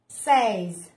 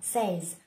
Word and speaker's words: says: là says nhưng mà say là không đúng thì các bạn phải đọc là says.